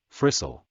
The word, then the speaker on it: Fraser: whose name is Janet Fraser, or, as we in the South used to pronounce it, Frissell.